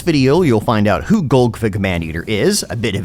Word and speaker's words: Golgfag: you'll find out who gfig maner is a bit of his lore and play style information how to pronounce his name with a silent a and why he has